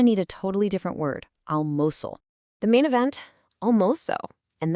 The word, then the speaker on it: almoço: of rice and beans, almoço. While the spelling might look kind of familiar, the sound is definitely unique. The beginning, al, isn't a sharp sound. It's this nice, wide open uh sound, almoço.